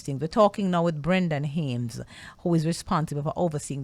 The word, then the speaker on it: Brendan Hames: Brendan Hames. I hope I'm pronouncing your name correctly.